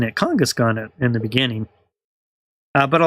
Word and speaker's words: Kangaskhan: So in this case, it's supposed to be kangaroo, so it's supposed to be Kangaskhan. I was pronouncing it Kangaskhan in the beginning, but a lot of them are like that.